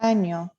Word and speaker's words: año: Really important to get that word right, año, because there is a Año. word, there isn't a word that means this. Oh, Mm. Yeah, don't want to mispronounce that. Otherwise, you talk about what we poop out of.